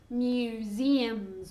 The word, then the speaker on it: museums: okay, be careful with the pronunciation of museums. Museos. Museums. Very difficult, okay? It's like with an I sound. Museums. So 2 Z sounds.